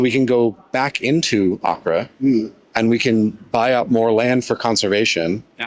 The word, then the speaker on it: Acre: Whenever I try to tell people about this and I spell it, they're like, "You mean acre?" And I'm like, no, it's Acre. You got it. You got it right. Did I say it wrong the first time? No, you're good. Acre. Yeah. I just didn't roll the R.